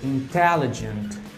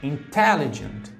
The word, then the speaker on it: intelligent: Palavras como, por exemplo, intelligent, intelligent. Percebam que a sílaba tônica está no T, intelligent, intelligent.